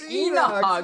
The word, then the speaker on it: Inox: I'm what like, is it, bro? It's Enox.